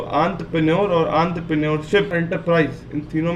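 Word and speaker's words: entrepreneurship: एक शब्द एंटरप्रेन्योरशिप, या बहुत से लोग उसको गलत प्रोनाउंस भी करते हैं एंटरप्रेन्योरशिप, पर वो एंटरप्रेन्योरशिप होता है।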